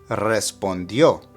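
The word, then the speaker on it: respondió: which means to respond note the accent on the last o and that's where the stressor pronunciation needs to be respondo here it's in the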